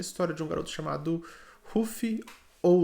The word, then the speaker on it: Luffy: One Piece conta a história de um garoto chamado Ruffy ou Luffy. Eu acredito que o correto seja Luffy, mas como eu assisto pela versão japonesa e eles pronunciam Ruffy, eu me acostumei a chamá-lo de Ruffy.